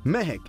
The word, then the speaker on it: Mahec: I am seated comfortably at Mehek, and the first thing I've got to do is tell you what Mehek stands for. Now, Mehek here is spelled as M-A-H-E-C, and it stands for Modern, Authentic, Hindustani, Evolved Cuisine.